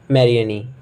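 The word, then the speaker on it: Marianne: सबसे पहला वर्ड है, आई डोंट नो आप क्या इसको प्रोनाउंस करोगे, मरियानी, ठीक है, बिरयानी मत कहिएगा, मेरियानी कह सकते हैं हम लोग इसको, ठीक है।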